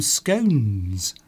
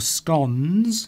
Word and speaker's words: scones: I will make some scones or scones. You can pronounce that two ways.